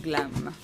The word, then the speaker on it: GLAM: En fait, on prononce l'acronyme comme GLAM, comme Open GLAM, dont je vais parler cet après-midi.